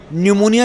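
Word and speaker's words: pneumonia: उनकी भाषा है जहां न्यूमोनिया की स्पेलिंग अगर आप लिखते हैं तो आप पी से लिखते हैं एन से नहीं लिखते कहते हैं भैया पी साइलेंट है एक उनकी भाषा है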